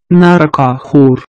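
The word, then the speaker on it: নৰকাসুৰ: Likewise, Narakasur is called in Assamese language Narakaaxur. The velar fricative ha is unique to the Assamese language. This velar fricative pronunciation ha is absent in all the Indian languages, including Sanskrit, but is to be found in many European languages and in Persian.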